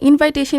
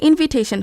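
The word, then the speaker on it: invitation: আমরা যে শব্দটিকে ইনভাইটেশন হিসেবে উচ্চারণ করে থাকি সেটি আসলে ইনভিটেশন হবে।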